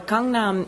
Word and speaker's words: Gangnam: Well, Gangnam is, which is how it's said in Korean, is an area of South Korea, of Seoul, in fact.